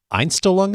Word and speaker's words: Einstellung: Einstellung effect. Am I pronouncing that correctly? That's right. Yeah, the Einstellung effect.